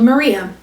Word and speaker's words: Maria: he'd reserved from a sect called Maria, pronounced as in, how do you solve a problem like?